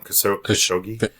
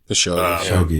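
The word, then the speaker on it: Khashoggi: You know, the conspiracies, theories about 911 and the um killing of uh I'm going to say his name wrong. Kas Kosogi. Kashogi.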